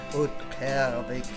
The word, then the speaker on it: Utqiagvik: Point Barrow, au nord-est de la ville d'Utqiagvik [prononcé mal par le narrateur]. Citoyen local : « UUT-kee-AH-vik ». Narrateur : « Oot-cav-ik ?